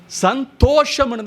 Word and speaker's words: சந்தோஷம்: சந்தோஷம் என்ற வார்த்தைக்கு உச்சரிப்பே தவறு. சந்தோஷம்னு தான் சொல்லணும், சந்தோஷம் கிடையாது.